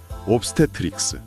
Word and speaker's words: obstetrics: 네, 포대기에 아기를 업고 있는 따뜻한 시각적 이미지가 단어의 차가운 발음을 완전히 덮어버리는 훌륭한 연상입니다. 정말 눈앞에 포대기 그림이 그려지는 것 같네요. 같이 해보겠습니다. obstetrics, 옵스테트릭스, obstetrics, 옵스테트릭스.